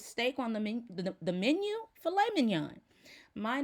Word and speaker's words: Mignon: Mignon, silent N, as in the most expensive piece of steak on the menu, filet mignon.